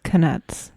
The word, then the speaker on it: Knuts: Pottermore says Zach's right on both pronunciations. You're really doing a deep dive, it looks like. It is Knuts.